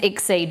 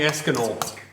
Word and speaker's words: Exceed: que cream um his name is ex seed by the way just I uh we know who you mean what you mean but I just thought I'd I'm very used to people getting my name wrong so it's okay I respond to anything e ex c e e d e he cells some weird people even call me eskinol yeah weird people they